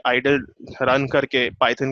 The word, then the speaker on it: IDLE: आपके पास आता है वो आइडल होता है, IDLE उसका स्पेलिंग है.